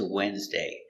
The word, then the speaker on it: Wednesday: another crazy word is Wednesday it's very common word but it's not pronounced like it's spelled the D is silent and the E is silent too Wednesday let's look at